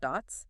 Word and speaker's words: DOTS: And I want to be clear right up front for you, the listener, that is pronounced dots, like the word dots, right?